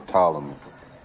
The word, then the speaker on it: Ptolemy: Don't say the P. The P is silent. It's Ptolemy.